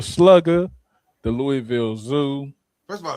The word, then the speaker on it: Louisville: I'm gonna shout out the whole city of Louisville.